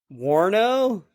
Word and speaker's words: Warno: Warno?